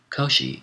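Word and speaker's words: Kōshi: this pass Koshi footnote Koshi is the Japanese pronunciation of the name of the Chinese philosopher kuntu or Kung Fu TSU whom we call Confucius end of footnote and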